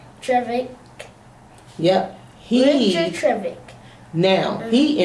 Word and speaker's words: Trevithick: Look at the pronunciation here. Trevithick.